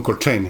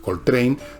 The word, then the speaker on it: Coltrane: Hay un juego de palabras, porque Coltrane, train, por tren, no se escribe trane, se escribe train, pero se pronuncia igual.